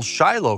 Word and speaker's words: Shiloh: absolutely love being at this site here in Shiloh or is the proper pronunciation is Shilo and Shiloh is used over